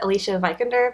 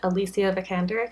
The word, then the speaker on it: Alicia Vikander: high transfer name like I originally thought you pronounce it Alicia vikander but I saw something where she pronounced it and I think she said Alicia vikander cuz she's from Sweden